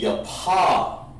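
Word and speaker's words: יפה: beautiful in in hebrew is yah like your daddy or your mouth your paw like your pop that means beautiful so take a yapa rib beautiful your pop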